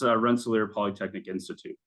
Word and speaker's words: Rensselaer Polytechnic Institute: So can you please tell us exactly how to pronounce RPI properly, in the full context of the name? Yeah, it's Rensselaer Polytechnic Institute.